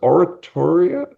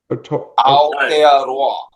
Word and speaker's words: Aotearoa: loud, so I'd have no idea how to pronounce it. Is it Oratoria? Aotearoa.